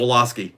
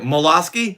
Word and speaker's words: Woloski: No one could pronounce Hey, Woloski. know- No one. No? Is it Molosky? Voloski? You're looking right at it. It's a W.